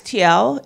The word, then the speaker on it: Teow: Is it Teow? It's Teow. It rhymes with meow.